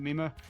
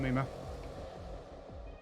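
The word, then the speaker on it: Mimir: And it's spelled like M-I-M-I-R. So I don't know how it's actually pronounced, but I pronounce it Mima because this boss can be a run killer sometimes.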